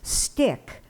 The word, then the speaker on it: stich: lexicon companion the definition for STICH, pronounced stick, noun, 1, in poetry, a verse of whatever measure or number of feet.